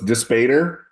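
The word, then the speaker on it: Dispater: My personal favorite was how did we say we were going to pronounce it, Matt? So it's Despater.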